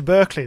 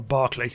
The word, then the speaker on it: Berkeley: It might actually be better to go to Berkeley then, or Barclay, depending on how you want to pronounce that.